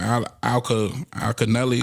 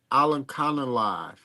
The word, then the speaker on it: Alimkhanuly: What's that again? Janibek Alimkhanuly. Okay. See, I've never heard pronounce it like that. I've never heard say Al Alkaneli Alkaneli.